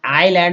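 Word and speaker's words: island: इसे बोलते black bells आईलैंड आईलैंड में एस जो है साइलेंट रखा गया वेटर टी ल वेटर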